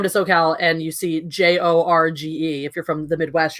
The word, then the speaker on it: Jorge: Like you come to SoCal and you see Jorge. If you're from the Midwest, you're like George. I always say, but if you come down here, it's Jorge.